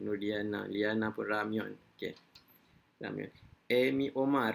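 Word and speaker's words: 라면: Ramyon. Amy Omar Ramyun. Okey, Amy Omar ni salah. Pronunciation Amy Omar ni kurang tepat sebab dia sebenarnya Ramyon.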